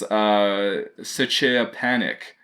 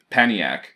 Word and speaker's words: Szczepaniak: This part is the SZ is pronounced as SH. And then the ZE is like CH. So, Paniac.